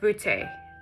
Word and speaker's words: beauté: By the way, this is pronounced beauté in French.